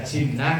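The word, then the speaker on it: جِنَّة: Beda huruf depannya, bacanya artinya beda. Kalau dibaca jinnah itu artinya jin.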